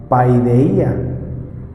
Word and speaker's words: paideia: palabra, disciplina, que viene del original que se pronuncia paideia.